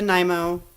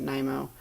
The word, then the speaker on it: Nymo: I use the Nymo D. I don't know how everybody else pronounces it. I pronounce it Nymo.